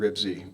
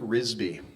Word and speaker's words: Ribsy: And I loved the Henry and Ribsy books. And I remember reading them in 2nd grade. And I remember Dwayne Kress pronouncing it Risby. He just always said Henry and Risby, and I will always remember Dwayne Kress for that.